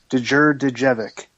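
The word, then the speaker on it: Djurdjević: And his last name is Dure Devik.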